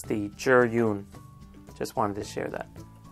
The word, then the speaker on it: Zhiyun: and just a quick note this is actually pronounced juror Yoon some ink knowledge this means cloud it's not the Zune not the vu it's the juror Yoon just wanted to share that okay so here